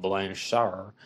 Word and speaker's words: Blanchard: is the case of gypsy rose blanchard sometimes pronounced blanche shower and gypsy rose blanchard